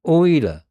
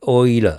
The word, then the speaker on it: Euler: You see, by the way, that's called Euler. I think that's pronounced Euler, the guy's name. Swiss mathematician, Leonhard Euler. But usually I like to pronounce it Euler because that's how English pronounce it, Euler.